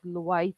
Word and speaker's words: Lewis: an acid and base you can pronounce this lewis word as lois as well defects or lordy brown bronstrom